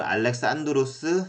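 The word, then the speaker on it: Alexandros: 그 다음에 또 그리스 발음은 알렉산드로스 3세예요.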